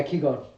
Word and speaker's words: Qigong: Yeah, Qigong.